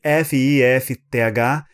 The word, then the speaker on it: fifth: Se escreve F-I-F-T-H, ninguém fala o segundo F. É como se fosse F-I-T-H. Fifth. Impossível falar. Ninguém fala fifth. Não. Fifth. Fifth. É mais fácil, mais simples.